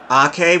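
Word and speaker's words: Aké: But yeah, Ragnar Ake is his name. Yeah, it's like Nathan Ake, except it's Ragnar Ake, and his last name is spelled...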